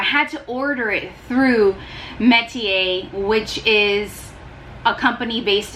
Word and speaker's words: Metier: Spelled M-E-T-I-E-R. I looked up the phonetic pronunciation to this and I still feel like I'm not pronouncing it right, but it's pronounced Metier.